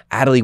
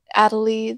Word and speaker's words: Atalie: Atalie the Mediator. Atalie spelled like Natalie without the first letter.